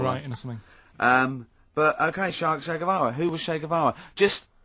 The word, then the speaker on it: Che Guevara: Shay is like shake, and his surname is like guitar.